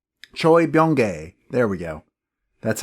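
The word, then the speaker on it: Choi Bounge: his name is Choy B Choy bong there we go that's how you pronounce it thank you Wikipedia I had seen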